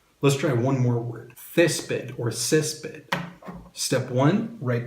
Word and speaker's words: césped: Step two, underline where the emphasis goes. Césped or césped. Césped. So the emphasis goes here.